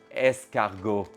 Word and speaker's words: escargot: Escargot, well done. Honestly, well done. Yeah, this is escargot. Yeah, there's a T at the end after the O that you don't pronounce, but that's another story for another time, right?